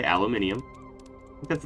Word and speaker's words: aluminium: Some people say aluminium. I think that's its proper pronunciation, if I'm being honest. We call it aluminum here in the States.